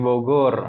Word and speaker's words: Bogor: di Bogor. Bogor bilangnya Om ya, jangan bujur. meskipun tulisannya nanti pakai Jim, jangan bilangnya tetap bacanya seperti aslinya Bogor.